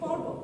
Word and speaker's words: পর্বত: বর্ণের উপর রেফ থাকবে বানানে যে বর্ণের উপর রেফ থাকবে সেটা দ্বিতীয় উচ্চারণ হবে না দৃত্ত মানে কি দুইবার